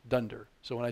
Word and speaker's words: dunder: So when I say dunder, this is double underscore class double underscore, which in common parlance in Python circles is pronounced dunder.